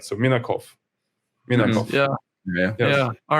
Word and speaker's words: Minakov: But yeah, usually the people are just getting mistaken. They start to emphasize the last part, like OV, as you rightly mentioned.